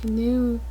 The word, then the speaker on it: GNU: So first you're gonna have to search for GNU Emacs, and I don't understand why GNU is pronounced like that, because for the animal the G is silent, so that makes no sense to me.